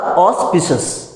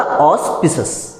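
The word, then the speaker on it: auspicious: तो इसका सही उच्चारण क्या होगा ऑस्पिशियस, बोलना मेरे साथ, क्या होगा ऑस्पिशियस।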